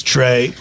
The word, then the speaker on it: Trey: family over here is Trey Trey Trey is the oldest boy Hey tre you say hey which rhymes with your name it does tre is